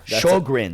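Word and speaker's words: Sjögren's: Sjogren's.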